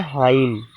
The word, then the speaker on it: hymn: प्यारे बच्चों, शैम का मतलब होता है हाइम, HYME।